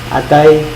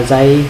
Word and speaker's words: Atay: số người đọc là Azay hoặc là Atay. Rất là nhiều anh chị em đọc không đúng từ này. Âm tờ nó khác âm giờ nhé.